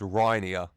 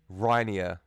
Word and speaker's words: Reinier: to say this name, and it says it's Reinier. Reinier. Reinier? Yeah, Reinier. Okay, so if that's wrong, you blame the man on Google who said that, okay? But I'm going with Reinier.